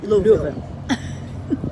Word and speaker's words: Louisville: And you have to say Louisville if you have marbles in your mouth. Yes, it took us a while to work that out because we were saying Louisville or Louisville and we were over-pronouncing our vowels. It's Louisville.